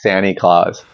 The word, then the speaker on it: Santa Claus: There's no pronunciation of the T. It's Santa Claus.